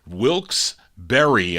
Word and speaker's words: Wilkes-Barre: Is it Barry Reed or Barry? Wilkes-Barre, I think, Pennsylvania.